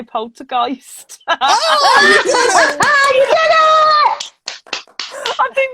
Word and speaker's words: poltergeist: It's because Dustin said it's like Christ. So now I'm like Polter, Christ, Geist.